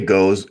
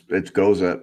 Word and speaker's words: Gose: Some people say goes. I think it's Gose.